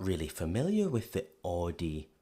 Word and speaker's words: Audi: Most Americans that I know pronounce it like I just said it, Audi. In German, we say Audi, Audi.